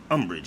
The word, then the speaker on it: umbrage: could try I'm rich is that the way it's pronounced Umbridge yep Umbridge is a formal